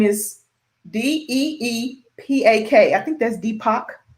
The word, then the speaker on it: Deepak: network his name is d-e-e-p-a-k i think that's deepak i think that's how you yes that's how you say his name he's a part of